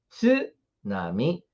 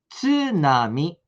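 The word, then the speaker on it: 津波: Tanto é que muita gente fala tsunami, por exemplo. Eu fiz até um vídeo falando sobre isso, né? Sobre tsunami, tsuyaku. Não é assim que se fala, não é mesmo? A gente fala apenas tsunami, tsuyaku.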